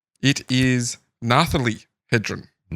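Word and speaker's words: Nathalie: Like Natalie like Natalie with a Yes. Nathali. Yeah, I don't know how you say that name. Kirsty has uh Yeah, yeah, I think that's probably more accurate.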